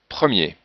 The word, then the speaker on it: premier: Mais si on a un ER final, on ne prononce pas le R. Allez. Premier, boulanger, métier.